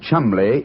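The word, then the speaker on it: Cholmondeley: Being an American, he had no reason to know that the name Chumbllay is in no way pronounced the way it is spelled.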